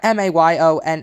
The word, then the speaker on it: mayonnaise: We got Mayonnaise. I pronounce it mayonnaise, like most of the not South. 3 syllables.